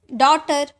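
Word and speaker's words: daughter: ट बट वैसे ही कॉट कॉट यह साइलेंट है डॉटर इसका साउंड नहीं आया डॉटर है ना तो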